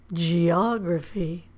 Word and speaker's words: geography: But again, we stress the syllable or we emphasize the vowel in the syllable before graphy. Geography.